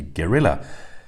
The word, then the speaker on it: Guerrilla: Not to mention the fact that, at least when pronounced with a British accent like mine, it's almost indistinguishable from a gorilla.